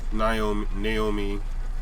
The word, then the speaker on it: Naomi: Alright, so next match that I'm predicting will be Damage Control going against Jade Cargill, Naomi. I said Naomi. Naomi, correct pronunciation.